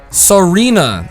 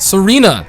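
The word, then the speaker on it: Tsareena: say it right now Serena I think that's how you pronounce it cuz the te like tsunami it's usually silent Serena ah wow they could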